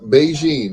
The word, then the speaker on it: Bigen: that's that's that yep beijing is what it's called it's spelled bigen bigen lt what's going zone